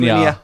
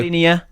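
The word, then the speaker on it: Škriniar: Skriniar. That'll do. Skriniar.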